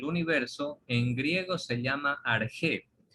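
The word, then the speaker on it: ἀρχή: Y ese origen, jóvenes, del universo, en griego se llama arjé. O bueno, se lo puede transliterar a nuestra simbología del alfabeto español como arché, pero se pronuncia arjé.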